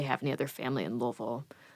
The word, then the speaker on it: Louisville: from louisville right yes how's it how's it pronounced properly louisville louisville yep it doesn't matter i always that's one